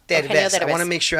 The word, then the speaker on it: Derbez: Derbez. Derbez.